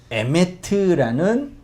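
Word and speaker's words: אמת: 에메트라는 단어예요. 에메트. 히브리어는 대부분 그 명사가 3개의 단어로 기록된 게 많이 있거든요. 고대어인데 심플하고 단순하죠. 알레프, mem, 타우 3개의 이 자음이 조합돼서 에메트라고 읽고 의미를 진리라고 하는데, 재미있는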